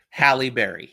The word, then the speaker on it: Halle Berry: sure I'm gonna play it hi Berry crap Halle Berry two for two well the other person who